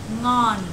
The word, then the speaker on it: ngon: Nang.